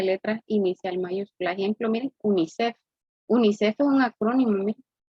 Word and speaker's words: UNICEF: Ejemplo, miren, UNICEF. UNICEF es un acrónimo, miren. Es una sigla que se considera como un acrónimo porque se lee como una palabra, ¿verdad? UNICEF.